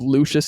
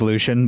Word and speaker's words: Lucian: more the backstory of lucious and everything and like his kind of it's lucian but go on h is just pronunciation